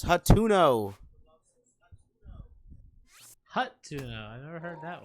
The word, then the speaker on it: Hateno: Quite literally Guts says Hateno, not Hatino.